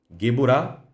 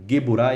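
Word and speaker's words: Geburah: Eu falei gu burá e gued durá e eh aliás retificando, corrigindo, né? Geburá e guurá. Muitos também pronunciam Geburá e Gvulá, né?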